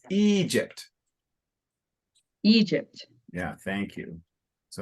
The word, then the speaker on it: Egypt: with Jacob okay uh Jake and it's it's Egypt Egypt yeah thank you so let me try